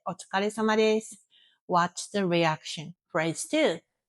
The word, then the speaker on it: Otsukaresama desu: Pronunciation tip, smooth it. Don't break it into syllables. Otsukaresama desu. One word. Try tomorrow. Walk past a Japanese co-worker, say, "Otsukaresama desu."